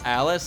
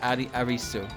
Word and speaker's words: Alice: But then when they're pronounced Japanese, like, I think the word is enunciation, they come off as Marisa and Arisu, right?